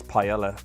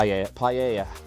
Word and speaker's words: paella: It's pella. That's nice. That's basically just rice, Spanish rice with um seafood and stuff. Pella is really nice. Pa paella, I think it's the right pronunciation. Paella.